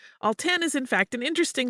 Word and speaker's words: Alton: let you know that it is actually pronounced all ten all 10 is in fact an